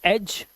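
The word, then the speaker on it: edge: अब यहां पर देखिए जी से पहले आएगा अगर डी तो आपको साइलेंट मिलेगा। जी से पहले आया डी साइलेंट। जैसे यहां पर देखिए जी से पहले डी है। जी से पहले डी है। जी से पहले डी है। तो यहां पर आप क्या करेंगे? जी से पहले आया हुआ डी है। तो आप इसे साइलेंट कर देंगे। इसे पढ़ेंगे एज।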